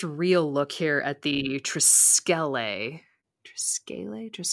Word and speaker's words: Triskele: Alison: Well, Boyd pronounces it triscolae. Emily: He does. Triscalet. Alison: Yeah. Emily: Although Boyd know how to pronounce, it. Alison: I don't know. But Boyd is the smartest person in that room, so he says, you know, he says Triscolay, and I believe Boyd.